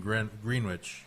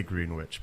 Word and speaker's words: Greenwich: of the green and gritch Greenwich, I don't know if I'm even pronouncing it right. I say green witch, but everybody says I'm wrong, but I'm a green, so it's okay.